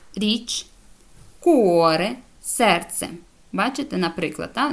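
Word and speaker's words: cuore: вивчити і запам'ятати далі коли буква буква ч читає це як к коли вона стоїть після неї йде голосна а о у наприклад ка Каза будинок коза річ куоре серце бачите наприклад Та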